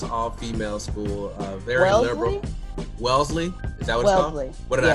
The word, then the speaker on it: Wellesley: the wesley college all-female school uh very liberal wellesley is that what would happen what did i